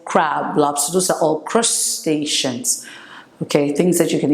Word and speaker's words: crustacean: know okay and then when it comes to Crustaceans it's pronounced Chris crustaceans crustacean crustacean when we talk